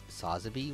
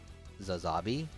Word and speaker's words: Sazabi: other YouTubers pronounce it Sazabi when, in the actual show and stuff, it's pronounced Zazabi.